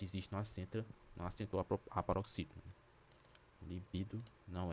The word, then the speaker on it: libido: É o libido. Libido. Libido. Não. Li, libido. Libido. Vou fazer a separação. Libido. Libido. Sílaba tônica é no bi. Não é líbido, né?